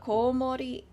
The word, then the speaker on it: komori: It's also really hard for Westerners to get the long O sound. Like, the komori, the long O. Unless I'm speaking Japanese, you can't hear it. Because I'll say komori.